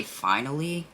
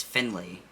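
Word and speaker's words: Finlay: this name wrong because i want to say finally but it's finley donovan is killing it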